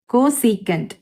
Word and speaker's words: cosecant: கொசீகன் theta இது எப்படி pronounce பண்ணணும்னா லைக் இதுதான் இதோட ஸ்பெல்லிங், கோசீகண்ட், இது சீக்கண்ட். பட் நீங்கள் எழுதும் போது இப்படி எல்லாம் எழுத தேவையில்லை. ஓகே, ப்ரொனவுன்ஸ் பண்ணும்போது கொசிகண்ட் டீட்டா அப்படின்னு சொல்லணும்.